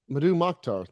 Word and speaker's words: Mdou Moctar: Madu Mocktar.